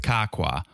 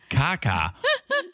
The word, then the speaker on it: Kakwa: that group dinner with kakwa or as jesse called him kaka which is my new favorite mispronunciation of kakwa and how i will